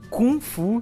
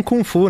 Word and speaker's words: kung fu: Samuel eu já ouvi gente falando confu sem o g é o jeito certo de falar confu uma ideia assim fala tanto acho que tem várias formas de falar né ela acho que no chinês eles falam confu né mas a gente veio